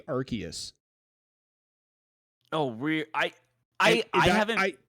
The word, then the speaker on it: Arceus: out justin for years i thought it was already serious it's actually arceus oh we i i